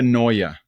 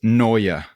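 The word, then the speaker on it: Neue: No, Elvetica Noya. TT Furs Noya.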